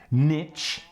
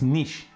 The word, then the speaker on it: niche: exist in english it's niche and for you if you can't pronounce it the way it's spelled it is n-e-e-s-h that's the way you should pronounce it so please do that